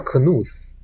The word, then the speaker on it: Knuth: 搞 computer，好像有一个叫 Knuth，这非常有名的，网